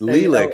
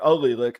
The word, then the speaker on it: allelic: That's Lilac. And how do you spell Lilac? It's you're missing a syllable there. Allelic. It's Allelic.